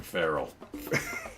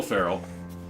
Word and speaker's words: feral: And tonight, we're going feral. Not Will Ferrell. No. Feral. Just feral. Feral. Oh, Rhymes with Daryl, but it's not his brother.